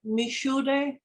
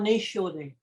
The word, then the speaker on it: Mishude: So she said we called it Mishude or Nishude, so Mishude sounds more like Missouri.